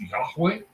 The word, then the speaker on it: Yahweh: It is, well, as far as we can tell, it is pronounced Yahweh, and I'm mispronouncing it, but either it's a Yod-He, Yadveh, are the letters, okay?